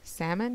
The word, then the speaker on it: salmon: you say in English salmon you don't pronounce the L it's kind of weird